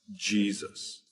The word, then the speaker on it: Jesus: are familiar with today so yesus came to be pronounced Jesus so the modern name